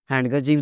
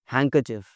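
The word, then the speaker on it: handkerchief: हैंडकरचीफ देना ज़रा, नॉट हैंडकरचिफ, हैंकरचिफ।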